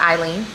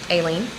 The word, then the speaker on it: Aileen: That is how you pronounce my name. Not Eileen, Aileen.